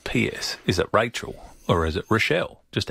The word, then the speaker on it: Rachel: No, it's pronounced Rochelle. Rochelle. But it's spelled Rachel with an E.